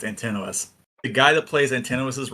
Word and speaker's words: Antinous: the guy that was, they call him Antinous in this one, but I think it's pronounced Antinous.